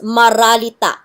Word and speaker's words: maralita: At the start of the word, it is pronounced D. Between two vowels, it is pronounced R. For example, the word dalita, meaning poverty, starts with the letter D. With the adjectival suffix ma or affix ma, the word becomes maralita, meaning poor.